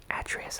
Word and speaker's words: Atreus: the game is called Atreus. And I hope I'm pronouncing that correctly. Atreus, I believe is the correct pronunciation.